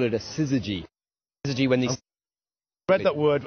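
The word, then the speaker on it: syzygy: special word for it we call it a siy when the read that word I was lacking in confidence when it comes to pronunciation so thank you that's right siy so that's what we're seeing beginning to happen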